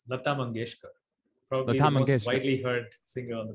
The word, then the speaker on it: Lata Mangeshkar: her name once so we know how to pronounce it it's Lata mangeshkar probably heard singer on the planet exactly so